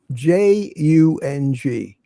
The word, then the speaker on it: Jung: So, but this Carl Jung is spelled Jung. If you've ever seen it, Carl not Young, but like J, Jung, like the Asian version.